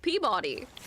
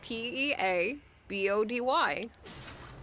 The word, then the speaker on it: Peabody: And if you look at it, it looks like it should be pronounced Peabody cuz it's P E A B O D Y, but it's pronounced Peabody.